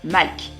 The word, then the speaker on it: Malk: Et le dernier membre de l'escouade Green est tout simplement Malk. Ça s'écrit avec un M-A-L-R-K, mais le R ne se prononce pas.